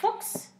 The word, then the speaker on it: Fuchs: How do you pronounce it? Fuchs. Fox. You have to get the German.